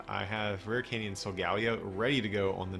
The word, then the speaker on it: Solgaleo: Probably Solgaleo, I think. I feel like that sounds the best to me. I could just be biased because that's how I've been saying it. But yeah, I think that just makes more sense. Solgaleo, Leo. Leo is than that, so that's probably what it is.